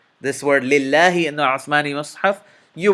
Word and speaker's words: لله: This word is lillahi. Lillahi. If you want, you can go back, rewind this video, and notice how I pronounced it. Whenever you see lafzul jalala in the Uthmani Mus'haf, this alif saghira is implied. It's not written, but it is implied. So you should be pronouncing it and spelling it with this alif saghira.